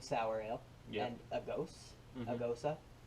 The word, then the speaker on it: gose: and a gose, a Mhm. gosa. I think it's pronounced gosa. Tell me if I'm wrong.